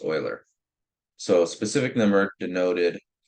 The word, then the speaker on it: Euler: Yeah, this is pronounced Euler, not Euler. It's Euler.